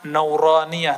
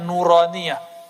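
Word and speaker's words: نورانية: roniyah makanya ribet tuh kita kasih nama nauraniyah itu bacanya nuraniyah huruf-huruf cahaya dan dulu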